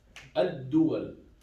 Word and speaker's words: الدول: الدول, yes, we do have shadda. I just forgot to write it. Okay. الدول. So we have shadda, we do not pronounce the lam.